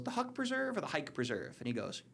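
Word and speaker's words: Huyck Preserve: This is the Hike Hike. Preserve.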